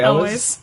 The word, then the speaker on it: Elwes: Oh, Carrie Ellis. Elwes.